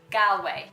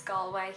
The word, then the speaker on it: Galway: It's not Galway. I know it's spelt like Galway, but it's not Galway, it's Galway. That's like us going to America and saying Arkansas when it's actually Arkansas.